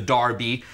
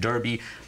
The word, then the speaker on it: Derby: race after himself the Darby and then races for three-year-old horses started spreading all through Europe in the United States we pronounce it Derby but it all originated